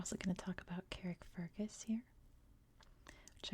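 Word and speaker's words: Carrickfergus: going to talk about Carrick Fergus here which I believe in Ireland it's more like Carrick fargus than Carrick Fergus like it is in American English I am pronouncing everything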